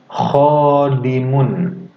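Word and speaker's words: خادمٌ: Khodimun. Khodimun. Gitu ya. Adik-adik kalau misalkan menirukan jangan setengah-setengah ya. Langsung tirukan. Panjang pendeknya, kemudian makhorijul hurufnya juga ya. Kho dibacanya ya.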